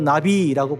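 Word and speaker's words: נביא: 그래서 예언자를 히브리어로 나비라고 불러요. 따라다니는 나비, 똑같은 발음인데요.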